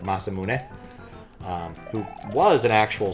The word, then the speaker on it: Masamune: They always have a Mazamune, not pronounced that way, but years and years have made me want to pronounce it that way instead of Masamune.